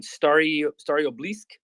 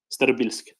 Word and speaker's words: Starobilsk: Yeah, Kupiansk, and then you can help me pronounce this one, Staryobilsk. Starobilsk.